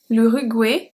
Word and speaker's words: l'Uruguay: L'Uruguay. This one, the pronunciation is quite different than what you encounter usually in French. L'Uruguay.